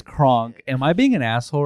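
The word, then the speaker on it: Krank: I thought it was Kronk. Because it's French. One, right? Yeah, the bald one. Okay, the bald freak. Like you spell it crank, but it's French, so it's Kronk.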